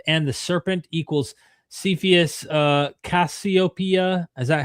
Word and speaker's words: Cassiopeia: Adam and Eve and the serpent equals Cepheus Cassiopeia.